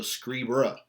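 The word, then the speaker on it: scribere: like moneiri, terreiri, salveiri, it's a short E. So scribera, ducera, agera, winkera. It's literally a short E in that you're just like not emphasizing it in the way that you would with a second conjugation.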